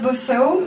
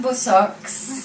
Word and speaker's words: Bosseaux: So I'm Bosseaux, that's spelled with an X at the end, so it's not Bosseaux, it's not Bossex, it's just Bosseaux, and that's French, obviously, and well, being French